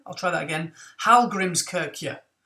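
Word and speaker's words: Hallgrímskirkja: Now in Reykjavik, there is a cathedral which, correct me if I'm wrong, I think is pronounced Hallgrimskirkja. I'll try that again. Hallgrimskirkja. Hallgrimskirkja, something like that.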